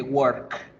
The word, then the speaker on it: work: No, la palabrita work se pronuncia con la E larga.